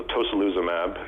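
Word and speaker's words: tocilizumab: if i pronounce it wrong uh tasa lissa tosa lissamab i believe is called um you did well rob so i'm happy to take that one so tosoluzumab it's an il-6 receptor blocker what that means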